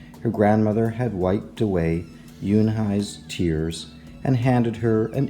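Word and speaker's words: Unhei: "Oo-nay?" the girl asked, scrunching up her face. "Ooh-nay," some kids chanted. No, Yoon-hae corrected. "It's spelled U-N-H-E-I. It's pronounced Yoon-hae." "Oh, it's you-hey," the boy said, like you, hey.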